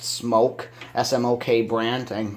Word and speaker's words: SMOK: people pronounce it a smock it is pronounced smoke SM okay Brant and